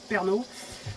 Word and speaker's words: Pärnu: Nous ici, on est, regardez sur la carte, on est à Pärnu, ça se prononce Pärnu.